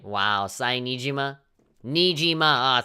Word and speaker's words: Nijima: Nijima! 3 syllables, fuck.